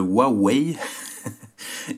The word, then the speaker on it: Huawei: huawei nomme que voilà on m'a appris à prononcer le nom de la marque comme il faut donc le huawei y 330 donc je rappelle kim qui m'a